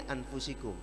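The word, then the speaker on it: أنفسكم: Dalam qiraat Hafiz diriwayatkan dari Hasim, Imam Hasim, beliau pernah mendengar Rasulullah membaca anfasikum. Tapi ada imam qiraat lain membacanya min anfusikum. Yang benar, dua-duanya benar. Dua-duanya boleh dibaca. Makanya kalau ada orang baca laqad ja'akum rasulun min anfasikum, jangan disalahkan. Ya, kalau dibaca anfasikum benar, dibaca anfusikum benar, karena ada dua qiraat.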